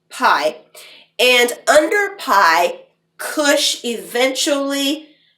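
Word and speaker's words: Piye: there was a cushite pharaoh named pai it's spelled p-i-y-e pie and under pie kush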